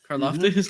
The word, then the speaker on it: Karlaftis: Is that how you pronounce it? Karlaftis? Thanks. Karlaftis, George Karlaftis.